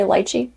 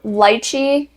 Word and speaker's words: lychee: You know, some people say lychee. I don't know what's right. I think lychee is like from its home country. Like that's how you say it. Okay. Lychee is like the North American way that everyone says it. So both are correct.